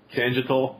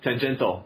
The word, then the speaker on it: tangential: i can't pronounce it is it tangital is that how it's pronounced i don't know why we chose that word um but tangential oh yes why is there an eye in there i don't know it's they